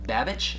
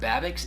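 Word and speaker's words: Babicz: I've heard it called Babich, but I've also heard Babix. It's B-A-B-I-C-Z.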